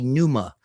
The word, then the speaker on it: pneuma: Well, in in you know in various traditions they say soul but really spirit pvma uh or as as angophone pronunciation would be numa.